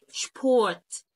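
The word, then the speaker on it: Sport: ادي الاو ا تي شبورت شبو شبورت شويه و هيفصل شبورت بنا عندنا عقده شبورت يعني رياضه فالاس تبقى ش شبورت تقوللي الا نطقت ما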